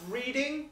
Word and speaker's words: Reading: reading which is where I grew up it's pronounced reading that's not my I grew up there so